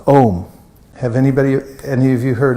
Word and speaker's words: Om: The mantra is pronounced Om. Try that. Om.